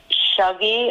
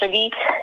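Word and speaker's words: Shuggie: the name of the main character like he pronounces it shuggy and he has a thick scottish accent i pronounced as suggy so that's the boy and it goes from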